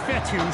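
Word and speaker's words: Fetu: 23-yard line so coach fethu spelled f-e-t-u for the longest time i was pronouncing the coach feta like feta cheese so let's just say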